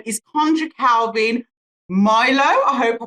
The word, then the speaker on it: Mlilo: So his name is Coundry Calvin Mlilo. I hope I pronounced that correctly. Mlilo, yeah. Mlilo.